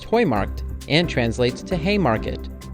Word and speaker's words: Heumarkt: as well this Plaza is pronounced Hoy marked and translates to hey